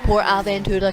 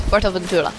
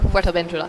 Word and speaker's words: Fuerteventura: No, it's not Port Aventura, Callum. Learn, it's Fuerteventura. Or Fuerteventura, if I actually speak it proper Spanish.